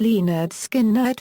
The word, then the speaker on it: Lynyrd Skynyrd: album with the subtitle pronounced Le nerd skin nerd featured the hit song